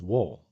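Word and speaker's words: 월: Sino Korean and the character for month is the same as the character for moon which is wool in Sino Korean.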